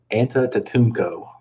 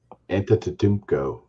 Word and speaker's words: Antetokounmpo: Can you please pronounce Giannis's last name for us? Antetokounmpo. Wow. Lots of practice, JT. Lots of practice. Antetokounmpo.